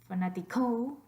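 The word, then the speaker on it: fanático: Do you want to put your voice stress on the last syllable? Fanatico? No. What about the second to last? Fanatico? Definitivamente no. What about the first one? Fanatico. I can hardly even say that. Fanatico. No. Obviously, we want fanatico. Fanatico. So over that A is where we're getting our voice stress.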